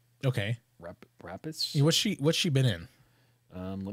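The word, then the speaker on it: Noomi Rapace: I can't pronounce her last name. Yeah, there you go. It's Numi. Okay. Rapis.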